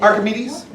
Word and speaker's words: Archimedes: not like, How do you pronounce that? Archimedes.